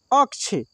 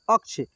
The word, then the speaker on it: अक्ष: क्षेत्र में ठीक है अक्षय लेकिन यहां पे जो अक्ष अब बोल रहे हैं अक्ष तो अक्ष के बाद के का उच्चारण हो रहा है फिर ये मुरीदन